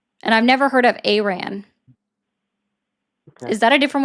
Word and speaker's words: Iran: as if it was spelled Eron. It's Aran.